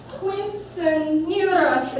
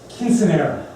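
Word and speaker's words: quinceañera: That's pronounced quinceanera.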